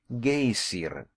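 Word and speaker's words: Geysir: high above the waters the gazer a word the icelanders pronounce gaysiren and which signifies fury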